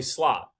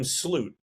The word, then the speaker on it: Slot: you've you've butchered Arie Slot at the beginning and you called him slute like as if there were three O's in his name.